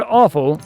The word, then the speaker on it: offal: It's spelled different, but it's pronounced the same.